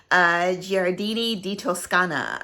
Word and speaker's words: Giardini di Toscana: The next one we have is by, I always have a hard time pronouncing this name, Giardini di Toscana.